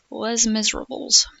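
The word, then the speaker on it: Les Misérables: It's like even if you don't know that the S is silent, you be like lace miser miserably lace, you know, or something like that. Less miserables.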